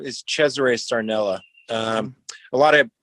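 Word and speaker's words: Cesaray: I was growing up, nobody knew how to say Chzure or so and it's spelled C E S A R A Y. So, everybody would, you know, the teachers and stuff like that, they would call me Cesare or Cesar or Queser.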